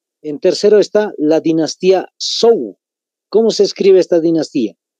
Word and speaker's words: Zhou: En tercero está la dinastía Zhou. ¿Cómo se escribe esta dinastía?